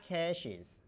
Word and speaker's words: caches: the pronunciation of the current word cash as CS cash but currently we don't talk about money don't talk about cash so it's web caches web caches we expect